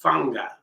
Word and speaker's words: fanga: So it's been a while, many months since we've done this rhythm, and it's called fanga. And fanga comes with fanga is spelled F-A-N-G-A.